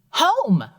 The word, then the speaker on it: home: that word Oh perfect now did you realize that I didn't say that ending sound I didn't say ah mm II that's right you didn't let's try it one more time absolutely Oh home perfect that wasn't one